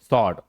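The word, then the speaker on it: sword: अगला है हमारा सॉर्ड, तलवार। क्या क्या पढ़ते हैं इसे, स्वॉर्ड। W को हटा भी दोगे तो आप क्या पढ़ोगे इसे, स्वॉर्ड।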